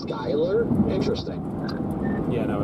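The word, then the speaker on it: Schuyler: Yeah, it's it's actually pronounced Skyler, but uh yeah, DL literally this morning we were drive we were driving back from the airport and he's like, "Isn't that pronounced like Shyler?" And I'm like, "No, it's it's Skyler."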